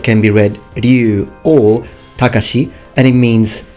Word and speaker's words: Ryu: series now this name I've sometimes heard it mispronounced as rayu other times mispronounced as Ryu but the actual name is ru Ru now this K here would also be